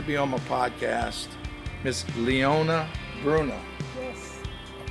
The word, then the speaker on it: Leona Bruno: Miss Leona Bruno. Yes. I pronounced that correctly?